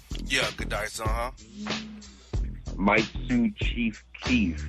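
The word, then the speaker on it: Giudice: How do you pronounce the last name? Goodice? Yeah, Goodice, uh-huh.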